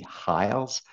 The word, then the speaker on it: Hiles: H Hiles uh I'm going to try to pronounce my age FR French Canadians have a horrible time pronouncing age so it's Hiles uh he wrote a